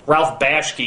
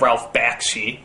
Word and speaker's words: Ralph Bakshi: there for whatever reason i could never quite pronounce correctly like judge hirsch instead of judd hirsch ralph bashke instead of ralph bakshi but the biggest one people seem to harp